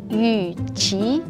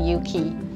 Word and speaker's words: Yu Qi: my name should be pronounced as Ichi but everyone here just for convenience they just call me Yuki leading the value-add toner